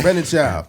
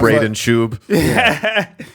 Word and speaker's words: Brendan Schaub: Brendan Schaub. Not Braden Shub.